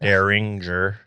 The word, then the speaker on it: Deringer: so daringer became widespread misspelled with a second R but this is the correct spelling one R really yes I always thought it was with two RS it make it sounds phonetically better daringer oh one R daringer yep but you